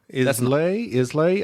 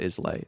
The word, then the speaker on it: Islay: Islay? Isla? It's Isla. Isla? It's not Islay. That's how it's spelled, but it's pronounced something different.